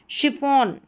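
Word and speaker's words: chiffon: अब यहाँ पर देखें शिफॉन, क्या है, शिफॉन, श उच्चारण है, तो इसमें एक्सेप्शंस जैसे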